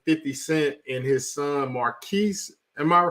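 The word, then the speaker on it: Marquise: the situation between 50 Cent and his son Marquis am I saying it right Marquis yeah you're saying it right you're saying it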